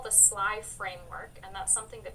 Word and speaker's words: SLII: So the first letter of each of those spells out SLII, which we can pronounce SLY, and of course also conveniently alludes to the fact that stalkers are very sly in their criminal behavior.